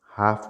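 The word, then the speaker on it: half: इसमें विकल्प दिया गया है, जिसमें हाफ में एल और नाइफ में के साइलेंट हो जाता है।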